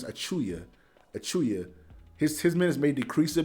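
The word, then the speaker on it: Achiuwa: I always say Achiwawa, but his name is Achuya.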